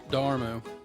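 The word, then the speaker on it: D'Amaro: Was Josh Dear Josh Darmmo Darmmo.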